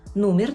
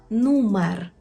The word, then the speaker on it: numer: ми маємо слово нумер не кажемо нумер нумер погодьтеся що є різниця між нумер і нумер нумір неправильно нумер і кухенка кухенка кухенка